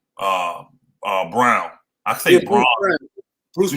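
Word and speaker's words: Braun: Christian Bryan Christian Bryan it's brown actually it's listening no it's actually Brown they say I don't know why it's spelled yes it felt like Rome but they said his name brown but anyway that that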